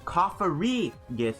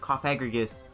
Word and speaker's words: Cofagrigus: unfortunately throughout the games I mispronounced cough agar uses name and called him cough re-gift instead of coffee egregious so I mispronounced his